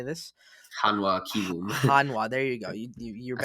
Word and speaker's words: Hanwha: Hanwha.